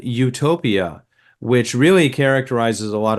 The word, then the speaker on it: Utopia: it it it it it's phonetically it's the same same as another way of spelling Utopia which is EU uh U EU hopia and and that spel that sounds Utopia also that means good place